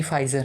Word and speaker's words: Pfizer: फाइज़र एक आई है, यानी पी उसमें साइलेंट है, यानी PFIZER, पी फाइज़र, है ना।